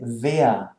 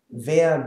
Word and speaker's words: wer: e right and ah there's no r or whatsoever it's just now if